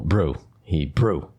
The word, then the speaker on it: Hebrew: Emphasis on the second syllable, brew, Hebrew.